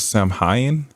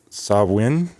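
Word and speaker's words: Samhain: Ireland Scotland and Northern France and I might mispronounce this but it looks like Sam Hyen s a m h a i n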